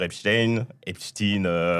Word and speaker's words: Epstein: Et comme beaucoup de gens disent Epstein, j'ai entendu plusieurs prononciations, mais je crois que ça se dit Epstein. Non, c'est Epstein.